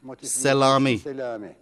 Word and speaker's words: Selami: Our next motif is called Selami. As can be understood from its pronunciation, the first and last syllables, se and mi, are short. The middle syllable, la, is long.